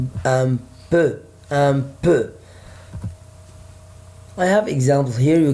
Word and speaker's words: peu: I say it like letter E in French, we say it So, un peu.